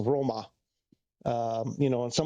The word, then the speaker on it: Roma: Um, I mean it's like often it's a completely different word like Rome isn't Rome in Italy. It's a Roma.